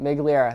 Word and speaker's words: Migliera: do you pronounce it? Migliera. That's how you say it.